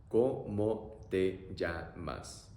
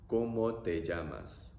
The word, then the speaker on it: ¿Cómo te llamas?: So, pronunciation, O-O-E-A-A. O-O-E-A-A. ¿Cómo te llamas? ¿Cómo te llamas?